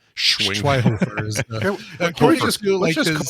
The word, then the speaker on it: Schweighöfer: Schweighöfer. Schwinghofer. Is it? It's not. I don't think the Schwinghofer. You don't say the G. I don't think you don't go Schwinghofer. Schweighöfer.